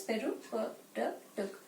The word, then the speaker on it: peripatetic: This should be pronounced as peripatetic.